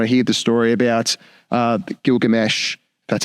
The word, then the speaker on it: Gilgamesh: And when I hear the story about Gilgamesh, that's how you pronounce it, reading the story there, well, not